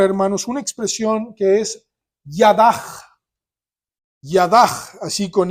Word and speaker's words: yadah: una expresión que es yadah yadah así con y a d a j pero se pone h en el original pero se pronuncia como j y es yadah y